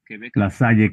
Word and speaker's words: La Salle: La Salle, Quebec. Bueno, perdón por la pronunciación, se pronuncia La Sal.